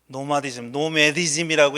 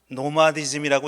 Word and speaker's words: 노마디즘: 노매디즘이라고 읽어야 되는 거 저도 압니다. 그런데 우리 한국에서는 오랫동안 노마디즘이라고 읽어왔어요. 그리고 이런 제목을 갖고 책도 여러 권 출판됐고 해서 그냥 이게 굳어졌습니다. 발음은 영어적 발음이 아니지만 그렇게 굳어졌죠.